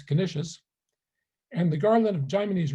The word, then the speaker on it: Canisius: In his pairing of the Catechism of the 16th century Jesuit Peter Canisius, whose last name I prefer to pronounce Canisius, and the Garland of